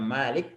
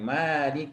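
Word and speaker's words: مالك: Al-Quran kita bisa baca Malik. Tapi ada juga qiraah yang membacanya pendek. Malik Yaumiddin. Ya. Kalau di riwayat Hafs an Asim yang kita baca, sering kita baca, maka mimnya panjang. Malik Yaumiddin.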